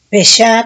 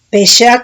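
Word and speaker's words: פשע: Aquí otro significado de traición es Hebreos 6588, Pesha con acento en la A, dice, no, Pesha con acento en la E, dice revuelta, nacional, también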